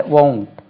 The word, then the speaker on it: won't: அப்போ இதை நம்ம நெகட்டிவ் படிக்கும்போது won't உச்சரிவு பாருங்க, அது won't இல்லை, won't, WONT.